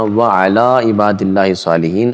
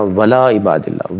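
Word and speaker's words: وعلى عباد الله الصالحين: ہے وہ یہ ہے السلام علینا وعلی عباد اللہ الصالحین، اصل میں یہ ہے دوست احباب جو غلطی کرتے ہیں ان کی توجہ بھی اس طرف نہیں جاتی، وہ پڑھتے ہیں السلام علینا ولا عباد اللہ، ولا عباد اللہ الصالحین، یہ بھی غلطی ہے۔ یاد رکھیے جب اللہ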